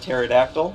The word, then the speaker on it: pterodactyl: the questions range from what is the silent letter and the word pterodactyl which is the letter p to uh what is